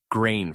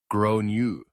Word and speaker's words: Gráinne: She asked what I meant and I said, "Well, in Ireland, they typically pronounce it like grown."